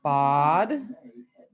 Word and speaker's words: bad: So it sounds like the word body without the Y, so bod.